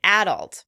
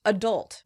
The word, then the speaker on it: adult: Next, let's talk about the word adult. In British English, this word is pronounced adult. In American English, this word is generally pronounced adult.